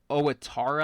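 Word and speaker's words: Ouattara: Owittara, I think is how you pronounce it, with a goal.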